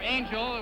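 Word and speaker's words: Ángel: A little bit of background on Angel, or Angel, which is the English pronunciation of his name, Angel Espada, 25 years of age to Clyde Gray's 28 years of age.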